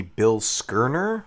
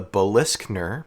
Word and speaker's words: Bilskirnir: Master replica's name for this model is actually the Bill Skirner, which I guess is more accurate to Norse mythology. And now that makes me wonder because on the TV show it was always called the Biskner, pronounced that way pretty clearly.